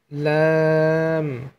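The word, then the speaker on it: ل: এই যে এই কিনারা, এই কিনারা সামনের ওপরের দাঁতের মাড়ির সঙ্গে লাগিয়ে লাম হরফটি উচ্চারণ করবে।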